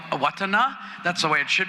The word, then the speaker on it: Owatonna: from Mankato and there's like a place called Owatonna but it's really called awatana that's the way it should be pronounced we just love to bastardize names in